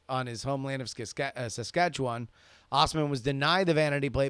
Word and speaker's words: Assman: alright alright alright David ass man has been denied a vanity license plate out in Saskatchewan Canada oh I'm sorry it is it is pronounced Osman Osman but he is so